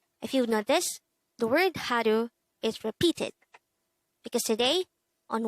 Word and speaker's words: 하루: word number 164 haru haru this is pronounced as the two-syllable word the first syllable is ha the second syllable is pronounce it with me haru the word haru is